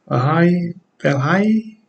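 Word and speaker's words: Vailahi: It's Sion Valhai, that's how you pronounce his last name, also known as Barbarian.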